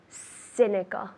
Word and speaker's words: cynical: good yes the same but just the sea cynical like an S cynical cynical perfect are you